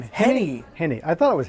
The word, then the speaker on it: Henne: How do you pronounce your last name? Henne.